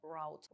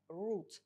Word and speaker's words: route: Зверніть увагу на слово route. Воно перекладається як шлях, маршрут, курс та має два варіанти вимови. В британському варіанті це route, а в американському частіше вимовляють route.